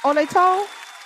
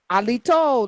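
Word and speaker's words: Halito: Alto. Alito. Alito. Like like judge Alito but nicer.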